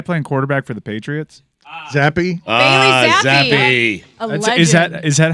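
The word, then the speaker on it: Zappe: was that guy playing quarterback for the Patriots zappy is that is that how it's pronounced yeah zappy yes yes I thought it was Hoyer what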